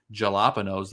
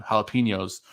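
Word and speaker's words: jalapeños: It's a classic corn dog smothered in creamy queso fresco and topped with fresh jalapenos, the very American pronunciation, jalapenos for everyone else, grilled corn, cilantro, and cotija cheese, which is elote on top of it.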